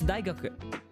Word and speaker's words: 大学: This time though, you would pronounce the u sound at the end. So this is daigaku.